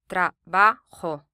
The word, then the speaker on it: Trabajo: The Spanish for work or job is Trabajo. Trabajo. This word ends in a vowel, so the syllable before last is stressed.